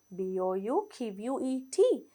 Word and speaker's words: bouquet: එකක් කියලා කියන්නේ බලන්න spelling B O U Q U E T එහෙම spelling තිබුණාට මේ T එකක් එක්ක ඒක silent අපි ඒක pronounce කරන්නේ bouquet කියලා basket of flowers කියලා පාවිච්චි කරන අවස්ථා තියෙනවා.